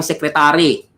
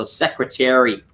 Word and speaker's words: secretary: Secretary, kung naalala niyo po yung short E. So, lahat po yun ay short E. Terry. So, wala pong salitang secretary. Hindi siya tari. It's Terry.